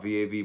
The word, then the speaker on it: Vav: Comment on Vav, V-A-V, pronounced Vav, Vav.